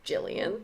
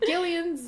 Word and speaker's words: Gillian: Say like, you just like want to say Gilligan's Gil. Island or something. I'm like, it's pronounced Jillian. Gillian's Island. So if you're naming your daughter Jillian, consider that if you do it with a G, people will probably call her Gillian.